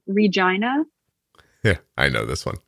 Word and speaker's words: Regina: Like, how did someone not hear that and go, hey, we probably shouldn't call it that because it sounds a lot like vagina. Let's at least pronounce it Regina.